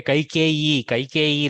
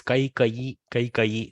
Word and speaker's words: Kaikeyi: Kaikeyi that in fact, in Kannada we say Kaikeyi like that, but in Sanskritam the color of the word that is used more is Kaikayi. So I use that pronunciation nowadays, influenced by my Sanskrit exposure, that he should be made the king.